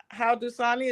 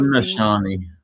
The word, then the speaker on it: Haudenosaunee: I was looking into the history of Central New York and the indigenous people, and it's Haudenosaunee. Is that how you pronounce it? Haud. Haudenosaunee.